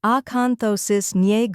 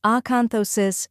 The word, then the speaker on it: acanthosis: the correct pronunciation is acanthosis gons first part Aon like a as an apple then con second part thosis say it as though like in though and sis softly third part NY rhymes